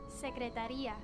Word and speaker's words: secretaría: Secretaría. Taria. I see the emphasis there. La secretaria. It's the right. It has the accent there actually for secretaria, whereas secretario is simply like that. It's simple I.